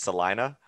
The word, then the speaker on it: Salina: very cool is it so i know i said it wrong before it's celina yes celina sorry nah